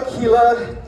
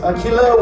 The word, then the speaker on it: Aquila: Well, we are Aquila, not to be confused with Aguila, which means Spanish, in Spanish it's eagle, right? No, it's Aquila with a Q.